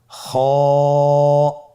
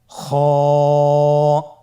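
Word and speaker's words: خ: খ হরফটির মাখরাজ হলো কন্ঠনালীর শেষ ভাগ হতে উচ্চারণ করতে হয়। কন্ঠনালীর শেষ ভাগ। আপনারা আমার সাথে বলুন খ আবার বলুন খ মাশআল্লাহ।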